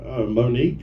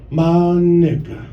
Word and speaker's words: Monica: And I said, Monique. And she's like, that's not how you say it. And I said, well, how do you say it? She's like, Monica.